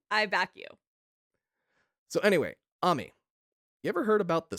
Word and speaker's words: Ammy: I'm going with the Japanese pronunciation. I'm pronouncing the letters the way a Japanese person would. Ammy is the way I'm going to say it. It's not Amy. It's not Ammy. I don't know.